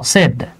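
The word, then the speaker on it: said: করতে পারি শুধু সেড অনেকে উচ্চারণ করে সেইড হ্যাঁ এটা কিন্তু সেইড না এটা ছয়কার ড সেড আমরা যারা মনে করি ছয়কার রসই আর ড্যা এইটা হচ্ছে রং এটা হলো রাইট তাহলে আপনি এখানে ব্যবহার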